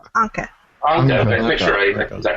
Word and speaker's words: Anca: How do you pronounce her name? Anca.